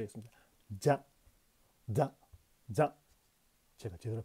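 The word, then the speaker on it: ざ: 표기가 거의 불가능한 글자입니다 사사를 발음할 때의 혀 위치에서 자자를 발음한다고 생각하면 됩니다 쉽게 되지 않습니다 자 자 자 정확히는 혀끝을 앞쪽 경국의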